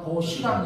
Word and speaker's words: 벗이랑: 연음 법칙 때문에 시옷이 다음 문절에 소소리로 발음되니까 벗이랑 이렇게 발음하죠.